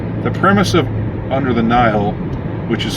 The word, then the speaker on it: Nihil: premise of under the nile which is spelled n-i-h-i-l and you know i guess typically that would be knee-hill but i but i